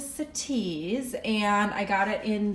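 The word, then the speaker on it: Citiz: is the Nespresso sities I was pronouncing it wrong in my last video I thought it was the city's but it's the cities and I got it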